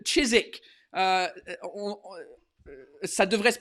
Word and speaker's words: Chiswick: Ça se prononce Chiswick. Il faut dire cheese, genre, on dirait qu'on vomit Chiswick.